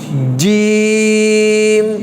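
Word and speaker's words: جيم: জিম জিম না কেমন অনেকে আমরা জিম বলি জিহ্বার আগা দিয়ে বলি জিহ্বার আগা না জিহ্বার কোন জায়গায় মাঝখান মধ্যখান জিহ্বার কোথায় মধ্যখান মাঝখান তালুর সাথে লাগবে জিম জিম আবার বলেন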